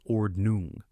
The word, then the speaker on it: Ordnung: Different Amish communities called church districts or command establish their own ordnong pronounced ordnung an unwritten set of rules guiding behavior and technology use.